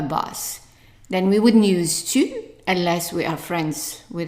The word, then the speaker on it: tu: So the first one is tu. And a U in French is pronounced u.